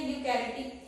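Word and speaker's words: eukaryotic: इसमें ई साइलेंट है। ठीक है, प्रोनाउंसिएशन इसमें यूकैरियोटिक किया जाता है।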